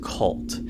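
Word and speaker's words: CVLT: So this group started with a 15-year-old boy who is hanging around a group known as Cult. So it's spelled C-V-L-T, and they are a hate group, basically like 764.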